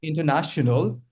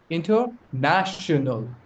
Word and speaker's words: international: You see, when we say international, the secondary stress is over here, but the primary stress is over here, which means you're going to put more stress on this syllable and less stress over here, and the rest ones are going to be, pronounced very slowly.